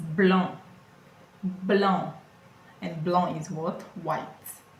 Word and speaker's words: blanc: If you take a look, you see that it's ending with a C. And I'm not pronouncing the C, am I? It's not blanc. It is blanc.